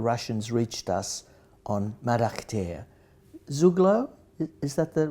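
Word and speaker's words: Zugló: Zuglo? Is that the right pronunciation?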